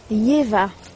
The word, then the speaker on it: YHWH: YHWH, et ça se prononce Yeva.